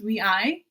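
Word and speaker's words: WayV: wavy over nct okay i like to pronounce it as whey but you know sure it's pronounced we i okay tomato tomato potato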